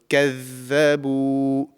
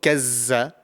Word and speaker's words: كذبوا: So كذبوا. And often this is, mispronounced with za, the letter za. So it's not kazza, it's كذبوا. This is the correct pronunciation.